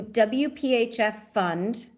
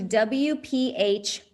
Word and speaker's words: WPHFund: You can go to WPHF Fund. No, I'm going to say it correctly. You can go to WPHFund, because it's tricky, .org/1000 Women Leaders.